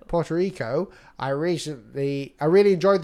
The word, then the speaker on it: Puerto Rico: what's that how do you say that nearly Porto Rico Puerto Rico I recently I really enjoyed the challenge thank